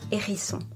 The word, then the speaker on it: hérisson: When H acts as a consonant, you do not do the liaison or the elision. For instance, un hérisson, le hérisson.